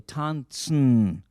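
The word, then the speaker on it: טאַנצן: Tanzen, so the English transliteration, T-A-N-T-S-N, and the S-N, you pronounce it kind of nasally, tanzen, not tanzen, but tanzen. Can we say tanzen?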